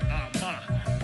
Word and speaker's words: Armah: My last name is pronounced Armah. From the West African people called the Ga.